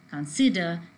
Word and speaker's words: consider: rule is differing and the first two words in consider and invisage the stress is coming on the second syllable whereas in the verbs